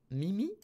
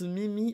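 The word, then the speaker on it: 耳: Ça se prononce... Mimi. Ça se prononce Mimi en...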